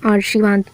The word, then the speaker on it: आशीर्वाद: भी हम कैसे पढ़ेंगे इसको क्या पढ़ेंगे आशीर्वाद और ये क्या है आशीर्वाद र का उच्चारण किसके बाद होगा श के बाद तो ये ऑप्शन सही